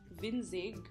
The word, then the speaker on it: Winzig: So actually, I went on this shop in Shopee called Winzig, and I thought it was like a Chinese word, but apparently it's German, which means like small things.